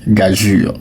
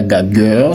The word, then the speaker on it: gageure: Alors ce mot-là quand tu le vois, il se prononce gajur. Si on n'est pas gageur, si on n'est pas gagur, si on n'est pas gager, le mot se prononce gajur.